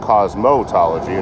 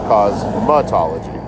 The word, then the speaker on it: cosmetology: It's not cosmotology, it's cosmattology.